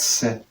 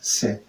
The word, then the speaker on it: sais: Okay, size is pronounced se. S-A-I-S is se.